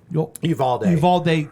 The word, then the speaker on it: Uvalde: Uvalde, Texas.